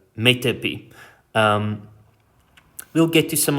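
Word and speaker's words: metope: is called a metapee for years i mispronounced this word as mitop um yeah so metepi um we'll get to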